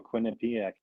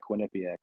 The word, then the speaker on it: Quinnipiac: I'm a Quinnipic guy, not a Quinnipiac guy. I know. Yeah, it's one of those ones with a couple different pronunciations.